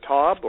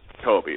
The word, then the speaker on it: Tobbe: let's get to it we're joined by Randy Taub our special guest today from realty commander and I'm probably not pronouncing that right so let me bring him